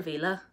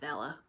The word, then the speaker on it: Vela: series by Vela Roth I've been calling her Villa and it's pronounced Vela I'm actually the worst